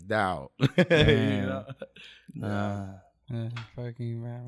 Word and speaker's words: Dao: You know, it's just Dayo. I've gotten Dayo so many times, you know, to like it's Dao.